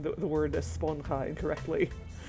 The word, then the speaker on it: esponja: It really bugs me that they keep pronouncing the word esponja incorrectly. It's a Spanish word that means the J is not pronounced like J, it's pronounced H.